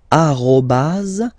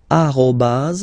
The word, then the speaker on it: arobas: the other one so officially we called it arobas arobas okay but then well let's be honest we can hear many French people or French speaking people using this at okay uh but then the French of course at all right uh